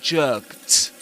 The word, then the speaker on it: jerked: And the other rule for the pronunciation of the ed ending in the simple past is that if a verb ends in any voiceless sound except t, you pronounce that ed as t. So you say, for example, jerked.